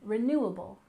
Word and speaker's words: renewable: we have renewable energy we stress the second syllable in renewable renewable and energy we stress the